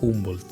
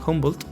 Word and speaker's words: Humboldt: de Alexander van humbold creo que se pronuncia humbold humbold el nuevo mundo de